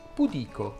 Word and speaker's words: pudico: segni di vita mi ha chiesto come si pronuncia questa parola ebbene sì dice pudico eccoti ancora qualche perla dal meraviglioso della e